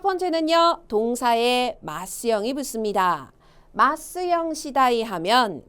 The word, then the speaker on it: 次第: 발음이요. 시다이.